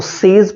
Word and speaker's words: says: जैसे ही सेज, SAYS, इसको सेज नहीं पढ़ते हैं, ध्यान रखिएगा, इसको सेज प्रोनाउंस नहीं करते, इसको करते हैं सेज, सेज।